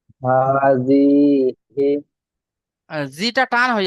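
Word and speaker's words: هٰذِهِ: জি, হাজিহি, জিটা টান হয়ে হা যাচ্ছে, খাড়া যাবার, হাজিহি। হাজিহি, জি, এবার বানান করেন।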